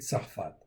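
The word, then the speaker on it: צרפת: OK ça s'écrit donc ici sad rche p et tava. OK ça c'est tsarfat.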